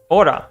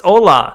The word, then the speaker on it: hola: It's hola, not ora. Why did it put ora for both? It's hola, bro, not ora, bro.